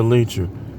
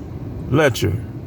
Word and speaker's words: lecher: to be called a leecher? A man given to excessive sexual indulgence. A lascivious or licentious man. But of course, and this is how it sounds. Lecher. I guess I was saying it wrong.